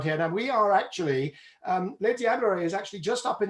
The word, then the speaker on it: Les Diablerets: Now we are actually, Les Diablerets is actually just up in the mountains above the seat of WBCSD, your new gig, isn't that right?